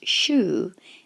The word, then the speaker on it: 週: Kani for week in this video tutorial it's pronounced Shu and it consists of two elements on the